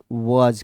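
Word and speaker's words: was: हम लोग past form में किसका प्रयोग करेंगे, वाज का प्रयोग करेंगे। किसका प्रयोग करेंगे, वाज का प्रयोग करेंगे, जिसको हम लोग प्रोनाउंसिएशन वूज कहते हैं।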